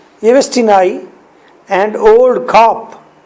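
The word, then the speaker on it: Yevstigney: Well only folia and येवेस्टी नाई, जी को silent कर दे, येवेस्टी नाई एंड ओल्ड खाप, ये कौन है?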